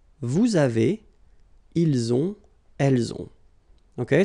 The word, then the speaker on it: vous avez: Vous avez. Same thing here. Little link between the two.